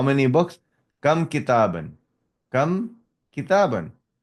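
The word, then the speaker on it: كتابًا: Now note the noun with the tanween in the accusative case takes an alif which is not pronounced. For example, kitaban, sayyaratan. So you will not saying the alif. Kitabun, kitabin, kitaban. So kitaban, there is an alif, but you are not pronouncing the alif.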